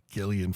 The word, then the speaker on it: Gillian: Um, but she started a Gillian Flynn did with that hard G.